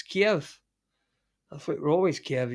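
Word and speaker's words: Kyiv: like amaram you know kiev is pronounced keef now oh is it right it's kiev i think we're always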